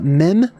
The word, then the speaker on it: mem: what that says uh mem pronounced as in mother which is appropriate uh and